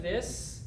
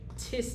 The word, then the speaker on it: this: If you pronounce it correctly, you can see the tongue. If you don't, if your tongue is in your mouth, you might say tis, tat, tees, and toes. Or zis, zat, zees, and zoes.